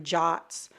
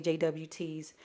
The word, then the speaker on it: JWT: Some people pronounce them JOTs. I like to say JWTs.